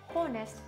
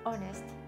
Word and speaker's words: honest: 例えば Honest、 Honest、これも Honest と発音する方が中にいらっしゃいます。